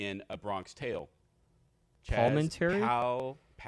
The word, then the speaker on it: Palminteri: Palminteri? Palminteri. Yeah, the first time I felt like you added an extra vowel in between the L and the M.